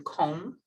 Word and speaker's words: comb: to borrow my comb we don't pronounce that b right in comb he was a highly